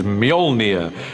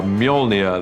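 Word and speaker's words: Mjölnir: to work out how to pronounce it which is mjolnir uh in our movie at the moment until somebody corrects me i'm sure they will uh mjolnir the hammer this awesome weapon for thor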